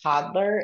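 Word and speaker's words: Todlr: of the apps is called toddler it's spelled t o DLR um and that app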